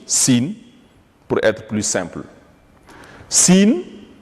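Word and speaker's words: سين: Sin, la lettre Sin se prononce exactement comme une province du Sénégal.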